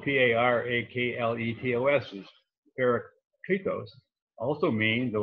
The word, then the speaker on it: parakletos: The Greek word for advocate, which is spelled P-A-R-A-K-L-E-T-O-S, is parakletos, also means, of all things, defense attorney.